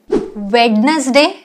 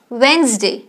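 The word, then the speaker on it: Wednesday: नो it's pronunciation pronunciation वेडनेसडे नो इट्स वेडनेसडे वेडनेसडे cuff no it's cough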